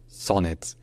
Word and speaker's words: Sonnet: can go with Claude Sonet here CLA becomes CLA with a slightly more open o sound and Sun his Sonet where the son runs with gone and the net runs with kits so CLA Sonet CLA